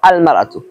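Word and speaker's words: المرأة: একটা হলো ইমরাতুন শব্দের পূর্বে যদি আলিফ লাম আসে তাহলে উচ্চারণ হবে আল মারআতু, আর ইমরাতুন শব্দের শুরুতে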